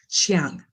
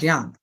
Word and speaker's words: Jiang: And actually, my last name is pronounced Chiang. John. As if the CH or J, actually. Oh, Jang. Jang? Jong? Jiang? Like Jiang? I know, it's not easy.